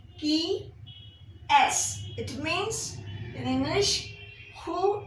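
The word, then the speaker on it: qui est-ce: Q U I qui EST A hyphen CE key S.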